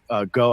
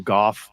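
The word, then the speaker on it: Gough: Line's bad but um most people call her Susan go um that's not even the correct pronunciation but that's who she's referring or that's who he's referring to it's actually Susan Goff um so I obviously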